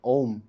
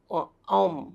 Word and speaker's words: ओम: अ उ म, नहीं, जो पूरा इसको जोड़ के बनेगा ओम। ओम।